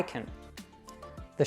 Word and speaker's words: can't: However, we usually don't pronounce that T at the end of can't either.